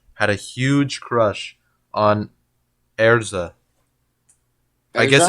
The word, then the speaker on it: Erza: a huge crush on erza i guess it's supposed to be a name like her name is supposed to be elsa elsa scarlet but since it's like japanese they pronounce it erza so he was like